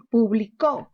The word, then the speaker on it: publicó: Por ejemplo, tenemos el caso de publicó. ¿Mayor fuerza dónde tiene? La mayor fuerza está en la sílaba co, publicó. Mayor fuerza en co.